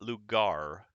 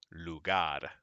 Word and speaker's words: lugar: it and number six notice the r is not it's not lugar it is like a little d it goes lugar okay all right now